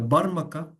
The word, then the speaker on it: Barmaka: The Barmaka, how it's pronounced in Persian, they were of the priestly class.